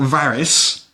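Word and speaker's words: Varis: Then we've got Varys, which is like Varys in Game of Thrones, but spelled with an I rather than a Y.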